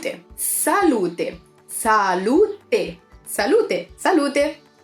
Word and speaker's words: salute: one is Cheers of course and we say salute them salute them salut a salut - salut - salut